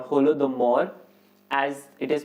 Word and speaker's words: Holodomor: was created which is known as holy mador or holy mador or holodomor as it is pronounced